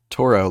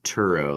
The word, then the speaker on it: Turo: Toro, like the mower, like No, no, I think it's pronounced like Turo, like Turo, oh, not Toro.